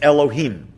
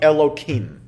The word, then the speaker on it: Elohim: torah when you're praying you would be able to pronounce that name as it is written otherwise what we usually do is alter it slightly and we might say something like elokim one reason that god's